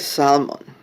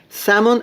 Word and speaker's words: salmon: Oh, it's bright salmon. Salmon or salmon. I say salmon, I'm sorry. I pronounce the L.